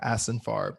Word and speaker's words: Ashenfarb: so excited to be joined by asinfarb so how do you say your last name